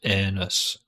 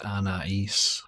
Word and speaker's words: Anaïs: It's not pronounced anus, it's Anais.